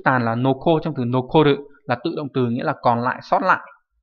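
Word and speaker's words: 残る: Thì âm cương của chữ tàn là noko, trong từ nokoru là tự động từ, nghĩa là còn lại, sót lại.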